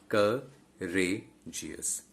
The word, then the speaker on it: courageous: Okay, and geous being the ultimate syllable, it won't be stressed. As I told you, the penultimate syllable will be stressed. So what is the penultimate syllable here? The penultimate syllable here is re, courageous.